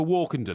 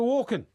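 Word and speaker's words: Walken: Max zorin that was the naughty guy Christopher walkon Bond that's not technically correct right right what did you say his name was it's right Christopher Walkin Bond that's right you said Christopher walk did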